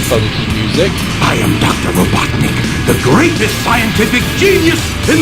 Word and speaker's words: Robotnik: Robotnik, the greatest scientific genius in the world! It's pronounced Robotonic.